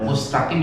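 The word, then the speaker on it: مستقيم: Mustaqim mustaqim Mustaqim itu mu-nya menjojo menjojo mu S-nya ditarik mus ya. Kalau nggak ditarik dia berubah huruf jadi shad mus loh mus ditarik meringis ya.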